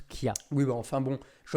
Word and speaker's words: chia: même nom pour information ça se prononce qui a oui mais enfin bon